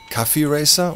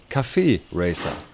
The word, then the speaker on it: Café Racer: klugscheißer punkt aufschreiben denn das heißt nicht café racer oder café racer hier ist jetzt auch in vielen tv magazin falsch ausgesprochen wird sondern es heißt café racer denn es hat weniger